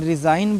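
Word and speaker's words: resign: नहीं बोलना है इसमें रिजाइन बोलना है जी साइलेंट है ठीक है रि इगन नहीं बोलना है रिजाइन इसको सिगन नहीं साइन बोलना है क्यों क्योंकि इसका जी साइलेंट है मुक है इसका प्रोनाउंस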